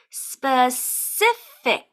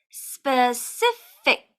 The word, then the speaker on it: specific: as we mentioned before sometimes C can be soft and make the sound so we have Spurs and then our last C is a hard C it's the sound it makes the k sound so we have specific specific I hope that today's